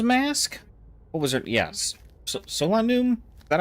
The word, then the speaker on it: Solanum: Solanum.